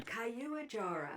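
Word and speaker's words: Caiuajara: The pronunciation thing saved me. Kayuajara So let's make a batch of these.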